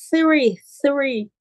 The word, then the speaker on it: three: Three no exemplo, three, né? Uma palavra difícil de pronunciar, TH, three.